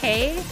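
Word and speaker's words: 北: is the the like the Chinese pronunciation is pay and this one is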